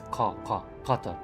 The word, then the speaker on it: Qatar: but it's, I mean, since it's a Q, kind of like, you know, the country, Qatar, it's not Ka, it's Qatar, so Kalashi, I would say Kalashi's scavenger.